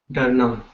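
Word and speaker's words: डरना: Darna. Right? Dar is fear. So it is derived from dar. So when you write, it's not dar, it's dar. It's pronounced as dur.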